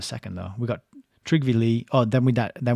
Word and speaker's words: Lie: first Secretary General trivy lie imagine putting a man in there whose last name was Lie oh actually it's pronounced Lee that's what it says